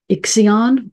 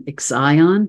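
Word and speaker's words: Ixion: Better or For Worse we have here iion or I like the pronunciation exion because I think it fits the meaning of this Kyper Bel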